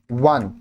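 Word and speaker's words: one: act play अब देखिए वन starts with a consonant sound क्या कंसोनेंट है व सो आर्टिकल ए इज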